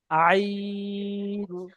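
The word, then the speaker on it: ع: ত জ আইন াইন মাশাল্লাহ আচ্ছা বলেন তো আইনটা কত আলিফ টান হবে তিন আলিফ মাশাল্লাহ আইন এবংটা এ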